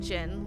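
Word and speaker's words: Djinn: the D is silent in Jin, like Django.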